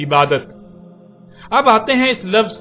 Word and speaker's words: عبادت: اردو میں شامل ہوا تو اسے عربی کی بجائے اردو لہجے میں تے کے ساتھ بولا گیا اور بولا جاتا ہے، یعنی عبادت۔ اب آتے ہیں اس